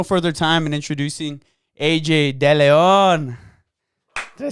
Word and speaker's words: Deleon: Let's waste no further time in introducing AJ Deleon.